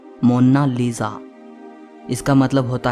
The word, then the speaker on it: Mona Lisa: कोई इसे मोनालिसा कहता है तो कोई मोनालिसा कहता है, लेकिन इटालियन में इसकी करेक्ट प्रोनाउंसिएशन है मोना लीजा।